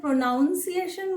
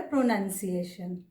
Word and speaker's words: pronunciation: प्रोनंसिएशन को कुछ लोग प्रोनाउंसिएशन बोलते हैं, वो गलत है। प्रोनाउंस करना मतलब उच्चारण करना, ये क्रिया है, और प्रोनंसिएशन ये संज्ञा है, इसको बोला जाएगा प्रोनंसिएशन।